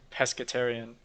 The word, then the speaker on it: pescetarian: close actually how do i pronounce that i'm going to find out i was right pescetarian because you eat pests like